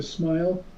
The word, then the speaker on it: smial: Gary haglin I've found this uh Society to smile I guess that's how you pronounce it that's right okay I didn't know